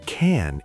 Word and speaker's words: can: In American English, when we say I can do it, the word can is usually very fast and weak.